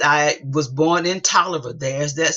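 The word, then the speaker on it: Taliaferro: 31st 1873 he says i was born in toler there's that spelling again because nobody knows how to spell that t-a-l-i-a f-e-r-r-o they don't know it's pronounced oliver tyler county georgia sixth district uh where brought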